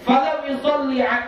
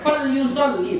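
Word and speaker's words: فَلْيُصَلِّ: Siapa-siapa yang disebutkan aku di sisinya, disebutkan nama Nabi di sisinya, falam yusalli, fal yusalli, bukan falam ya, fal yusalli alayya, maka hendaklah bersolawat ia atasku.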